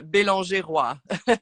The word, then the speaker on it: Belanger: uh um NE so it's a French name um since I'm from the French part of Canada so oh yeah so it's pronounced belonga the last name so oh I see